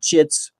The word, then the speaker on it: chits: and hit points and chits, which rhymes with shits, and all that.